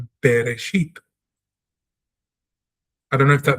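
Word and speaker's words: בְּרֵאשִׁית: It doesn't say, it doesn't have a tsere, it is not Bereshit. It doesn't have a segol, it's not Bereshit. It's got a shva, which means pronounce this consonant naturally, as if it did not have a vowel, which it doesn't. Instead of be, we say be. Bereshit, Bereshit, Bereshit, because the letter is Beith.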